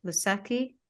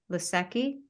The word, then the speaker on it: Lucchesi: and Joe lucette how do you say that lusaki lusaki the Chessie Joe Lucchesi to the Mets um